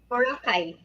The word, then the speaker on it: Boracay: there's a place I hope I'm pronouncing it pronouncing it right is um boraca Boracay yeah yeah it's an island yeah yeah yeah